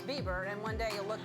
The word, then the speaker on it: Bieber: going to be huge Justin bber is here Bieber Bieber he's new cuz I said bber his name is Bieber and one day you'll